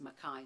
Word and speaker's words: McKay: Headland State School Building on McKay Street or pronounced as Mai Street.